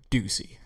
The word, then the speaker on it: Ducey: do you want to say it does up Ducey so Doug Ducey so so when you found